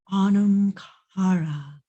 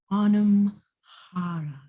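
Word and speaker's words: Anam Cara: It's pronounced Onum Cara, Onum Cara. It's very breathy.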